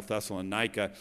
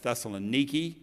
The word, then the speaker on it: Thessaloniki: we call it many times in the bible thessalonica is actually the way it's pronounced now is thessaloniki and this was the gate back in roman